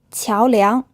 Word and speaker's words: 桥梁: 桥梁 This word is pronounced with 2 second tones.